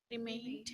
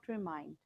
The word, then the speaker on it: remained: Remained. Remained, not remind.